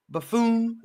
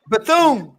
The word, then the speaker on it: Bethune: Buffoon.